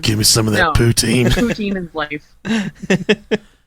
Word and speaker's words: poutine: I always pronounced it poutine.